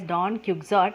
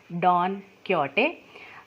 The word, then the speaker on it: Don Quixote: you read it you will read it as don quixote but it is pronounced as don quixote uh who is a spanish writer and the